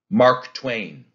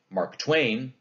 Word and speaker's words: Mark Twain: a few of these mark twain do you hear how that's a spondy we don't say mark twain that'd be a trokey and we don't say mark twain that would be an